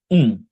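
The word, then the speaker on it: ん: তো এটার উচ্চারণ এখানে এন লেখা, বাট এটা উচ্চারণ হবে আর বাংলা নয়ের মতো। নয়ের মতো এটা আমরা যখন আরেকটা অক্ষর এটার সাথে বসবে তখন যে নয়ের মতো, কিন্তু সিঙ্গেল এটার উচ্চারণ হবে উম। দেখেন এখানে, উম, দেখেন এখানে উচ্চারণটা শুনতে পাচ্ছেন? উম, দেখেন মুখ বন্ধ করে উম বলবো, হ্যাঁ।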